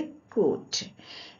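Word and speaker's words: could: एल आया है इसीलिए यहाँ एल साइलेंट होगा और इसे हम पढ़ेंगे कुट।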